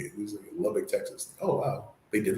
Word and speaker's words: Lubbock: shows or movies like django unchained or they pronounce it correctly it was in lubbock texas oh wow they did research on that